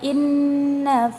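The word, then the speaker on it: إِنَّ: Ada lafaz inna. Nah, itu hukumnya adalah gunnah. Sebabnya yaitu huruf nun yang bertasdid, jadi disebut gunnah. Dan cara membacanya yaitu dengung, sedikit ditekan ya teman-teman, inna, seperti itu.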